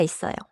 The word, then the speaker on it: 있어요: So, 있어요. Links because. 어요. Starts with a vowel.